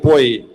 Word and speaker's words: POI: Now we have a bit more advanced POI by Alexander Salisov and after him uh we have music cocktail by Maria Pantelli and Jin Song. Please come here. Hi. It's actually pronounced poi.